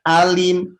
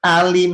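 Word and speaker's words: عليم: membacanya dengan Hamzah ya jangan bacanya dengan Hamzah wallahu bikuli syaiin alim alim pakai Hamzah artinya Pedih sangat pedih kalau make Ain seperti yang tertulis itu artinya Maha Mengetahui tapi kalau Ai nya dibaca Hamzah artinya berubah jadi Pedih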